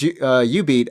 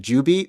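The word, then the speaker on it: jubeat: When you said U-Beat, I didn't recognize it because I always pronounce it Ju-Beat because it's it's spelled like J-U, right? J-U beat or something. U-Beat.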